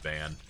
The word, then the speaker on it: Van: I also initially thought his name was going to be pronounced Vaughan until uh until they started calling him Van.